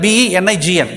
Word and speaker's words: benign: have to see that spelling for the b e n i g n bending actually we can pronounce it in another way benign we are also calling